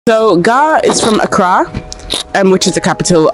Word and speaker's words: Accra: so gar is from accra and which is the capital of uh ghana it's not akra for all you people trying to bastardize the pronunciation of the name is accra just god we've got